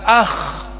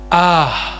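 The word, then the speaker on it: آه: Kalau kamu sakit jangan bilang, jangan katakan akh. Dua huruf ya. Dua huruf. Jangan. Jangan pakai akh. Sebutnya apa nyebutnya? Ah pakai H besar.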